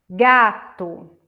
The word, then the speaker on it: gato: Gato. O acento forte seria na primeira sílaba, né?